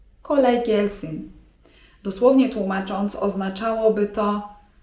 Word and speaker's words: kolay gelsin: memnun oldum) Jak już jesteśmy tutaj przy takich zwrotach grzecznościowych to myślę, że przydatnym zwrotem jest też: kolay gelsin (czyt. kolaj gelsin) Dosłownie tłumacząc oznaczało by to 'niech ci lekko przyjdzie'.